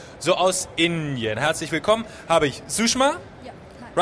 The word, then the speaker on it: Sushma: Habe ich Sushma? Ja. Hi. Right pronounced?